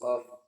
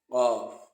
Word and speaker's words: ق: And now let's move to the next alphabet, which is qaf. Qaf, qaf, qaf, qaf. Qaf is pronounced from the deepest parts, deepest part of the tongue.